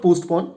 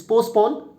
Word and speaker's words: postpone: Messenger, telegraphed, ashram, spontaneous, demonstration, baffled, prosecutor, postpone, it's not postpone, it's postpone, humanitarian, penalty, Brij Kishore